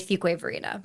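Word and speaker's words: Fuquay-Varina: And those two towns joined joined and made Fuway Verina.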